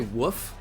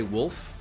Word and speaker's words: wolf: Interestingly enough, people say woof when they're trying to say wolf.